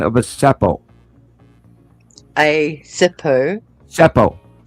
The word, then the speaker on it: Seppo: Seppo. Zeppo. No, S-E-P-P. Spell it.